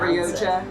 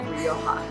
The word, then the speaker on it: Rioja: that j in spanish is hota so it's like so it's not ryoja you sure yeah rioja all right next one